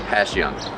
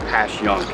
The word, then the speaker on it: Passyunk: live here yes but the correct way to say it is if it was an sh so it's a passion yeah uh letting lenin